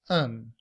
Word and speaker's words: an: Take an umbrella with you. In everyday speech, we do not say an. We reduce that to a schwah and the letter n to pronounce it as un.